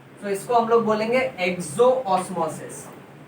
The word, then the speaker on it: exosmosis: पर इस osmosis में पानी सेल के बाहर जा रहा है, so इसको हम लोग बोलेंगे exoosmosis। प्रोनाउंसिएशन वाइज exosmosis भी बोल सकते हैं बेटा।